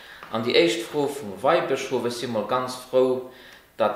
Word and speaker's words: Weihbischof: An die erste Frage vom Weihbischof ist immer ganz froh, dass das richtig ausgesprochen ist. Das heißt, du mengen der auch die so Weinbischof, du darfst nicht mit dem Wein zu dienen, sondern mit Weihen, also den geweiht gehen